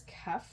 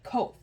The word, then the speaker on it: Koepf: So my last name is Kef. It's spelled Koepf. P is in Peter, F is in Frank. So people look at it and immediately they just go for the O. And they say Kof.